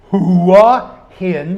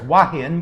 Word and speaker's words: Hua Hin: my Thai wife says, hua hin. You always pronounce the hua. It means head, Steve. My Thai wife. No, down here it's wahin because we're in the South.